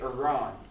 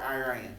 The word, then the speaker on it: Iran: Persian Empire is modern day Iran or Iran. You can pronounce it either way.